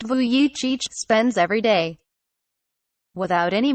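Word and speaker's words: Vujicic: however is exactly how nicholas voyage pronounced vu yi cheech spends every day without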